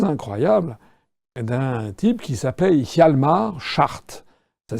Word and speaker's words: Hjalmar Schacht: le parcours assez incroyable d'un type qui s'appelait Hjalmar Schacht. Ça s'écrit H-J-A-L-M-A-R, c'est son prénom, et Schacht, c'est S-C-H-A-C-H-T.